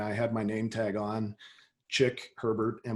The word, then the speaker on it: Chick Herbert: had my nametag on chick Herbert and my name is spelled CH IC K and a woman from Montreal came up to me and she introduced herself and she said chic hey bear and I said like